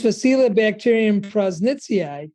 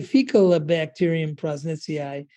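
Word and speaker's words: Faecalibacterium prausnitzii: This Faecilibacterium prosnitzii, hard thing to say, could say Faecalibacterium prosnitzii, you know, choose your pronunciation.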